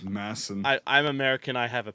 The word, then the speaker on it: Madsen: He was in Afghanistan, and it's Masson. They don't pronounce the D. It's Masson. Yeah, I know. But Yeah, I'm and American, so- so I'm but, gonna say like- Madsen.